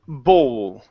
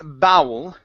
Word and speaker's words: bowl: It's owl, bowl. Bowl. Yeah, so it's not bowel.